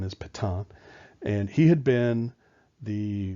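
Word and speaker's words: Pétain: the army a guy by the name of Patong that's how it's pronounced PE ta AI n is Pathan and he had been the the general at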